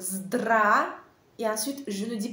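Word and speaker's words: здравствуйте: regardez attentivement ce mot n'essayez pas de prononcer chaque lettre dans ce mot je prononce comme ça drap et ensuite je ne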